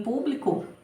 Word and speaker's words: público: antepenúltima sílaba tônica Então ela em público né então o pu é a minha sílaba tônica mais forte e ela te penúltima